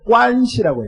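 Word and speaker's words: 关系: 그 중국 사람들은요, 관계를 관시라고 해요. 관시. 뭐예요? 관시. 중국말로 관시라고 읽어요.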